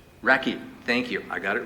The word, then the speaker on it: Rakhi: Racky.